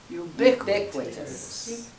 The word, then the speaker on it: ubiquitous: like this word ubiquitous there's a q u so it's qua so it's you bit sounds almost latin doesn't it okay so let's just all say the accent is on the second syllable ubiquitous i think i heard